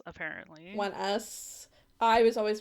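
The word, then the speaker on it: ONEUS: It's pronounced One Us, apparently. One Us. I was always pronouncing their band name as Onius.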